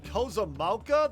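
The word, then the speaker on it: Kozama'uka: Oh, Kozamauka? That's how you pronounce it?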